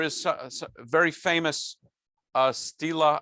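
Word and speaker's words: stela: a very famous uh stila i think it's pronounced stila um uh a big stone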